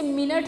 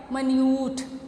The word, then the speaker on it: minute: She took care of द minute details, इसे मिनट नहीं पढ़ना स्टूडेंट्स, स्पेलिंग सेम है, इसकी प्रोनाउंसिएशन डिफरेंट है. इसे क्या पढ़ना है? minute.